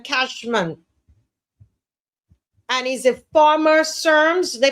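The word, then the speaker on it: CERMES: Adrien Kashman and he's a former SERMS they pronounce it SERMS director C Res director Dr.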